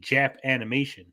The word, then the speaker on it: Japanimation: because some people in California were like, people are pronouncing it Jap animation instead of Japanimation.